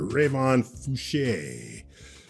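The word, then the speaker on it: Fouché: And of course, we've got Professor Rayon Fuche. That's an E with an accent in case you didn't know how to pronounce a trailing E.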